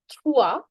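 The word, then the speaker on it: trois: Three is thwah.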